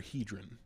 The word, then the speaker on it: Hedren: Um so, uh is it Hedren or Hedron? Am I saying it right? always have heard Hedren.